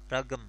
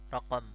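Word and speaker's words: رقم: Terus kita bisa bilang afwan, igrali ragam, igrali ragam, igra qafnya itu kan jadi g, ragam ya, raqam, raqam aja jadi ragam.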